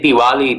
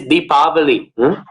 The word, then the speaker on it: Deepavali: is deepavali today obviously we say diwali these days but technically it is deepavali i'm actually not sure where this idea of pronouncing it diwali comes from but i have not found it in any sanskrit text so it must be some modern thing maybe it is like saying bombay or something like a westernized um pronunciation that then got adopted